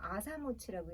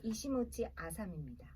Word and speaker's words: 이시모치 아사미: 획이 하나 아사모치라고 읽게 되고 막 이시모치 아사미입니다.